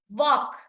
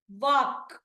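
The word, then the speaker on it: walk: Here also same way. వాక్. వాక్. ఎల్ అని ఎక్కడ sound రాదు.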